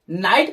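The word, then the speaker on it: knight: नहीं किया जाता अर्थात ज्यादातर के साइलेंट होता है जैसे के एनआईजीएसटी इसको हम लोग नाइट नहीं बनने वाले नाइट पढ़ेंगे सरदार डब्लू हम लोग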